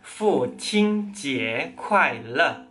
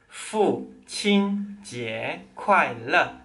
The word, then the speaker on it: 父亲节快乐: Jadi, selamat hari ayah bahasa Mandarinnya adalah Fu Qing Jie Kuai Le. Fu Qing Jie Kuai Le. Coba diulang. Fu Qing Jie Kuai Le. Kalau kalian pelafalan dan nadanya sudah tepat, coba ngomong lebih cepat.